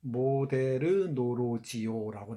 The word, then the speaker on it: 모더놀로지: 우리 소설가 구보시의 일일이라는 텍스트에는 뭐라고 나오냐면 모데르 노로지오라고 나와요. 모데르 노로지오. 예? 요즘식으로 발음하면 모더놀로지입니다.